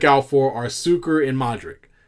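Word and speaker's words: Modrić: All right, so now the IC is itch. Have I been pronounced? Oh, so it's Modric.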